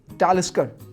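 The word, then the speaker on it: Talisker: बालवेनी बालवेनी बाल्वनी ninth बोमोर बोमोर 10थ टैलकर टालकर 11th clean मोरंजी मोरंजी एम ए डब्ल्यू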